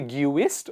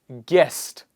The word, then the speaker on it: guest: you please repeat after me do we say gooist or guest guest God guitar guilty guide catalog colleague keep repeating